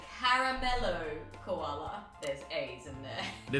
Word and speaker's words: Caramello: Up next, also from Cadbury, we have a Carmelo Koala. In Australia, it's pronounced Caramello Koala.